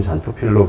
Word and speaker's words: 잔토필: 근데 이게 그리스 어원인데 그 크산토필이라고 표기될 수도 있거든요. 옛날에는 크산토필이라고 많이 불렀습니다. 원래 그리스어에서 X를 KS로 많이 읽는 걸로 알고 있고요. 근데 지금은 이제 영어가 아메리칸 잉글리시가 대세가 되면서 이제 좀 발음하기 쉬운 잔토필로 바뀌고 있긴 한데 두 가지 다 기억하시는 게 좋을 것 같고요.